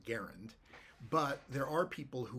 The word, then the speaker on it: Garand: M1 Garand and uh the proper pronunciation of Garand is garund but there are people who will gun splain to you that it should be grand and I think they're